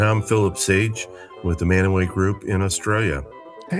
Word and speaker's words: Mantua: lived in a small town in Ohio called Manaway, Mantua. Most people pronounce it Mantua. That's how we know you're not from Manaway.